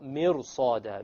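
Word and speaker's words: مرصاد: So therefore, the ra, when you make it heavy, it makes it easier to pronounce the sad. So, mirsada, mirsada.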